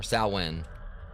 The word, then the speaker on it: Samhain: It's because it says Sam Hain right here. Or Salwen. Like some lore may be rusty or whatever, but I can swear it's supposed to be pronounced that one.